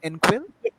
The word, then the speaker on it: Engquil: enquil encore is the tommy am i uh pronouncing it correctly end quill yes you are yes okay so uh swami